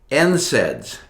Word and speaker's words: NSAIDs: How do you say NSAIDs?